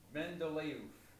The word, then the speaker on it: Mendeleev: Weird things happen when they put English words to things that didn't start in English. But his name is Dmitry Mendeleev, like oof. Dmitry Mendeleev. You can tell someone doesn't know what they're talking about when they say Mendeleev, because he's not Mendeleev, he's Mendeleev.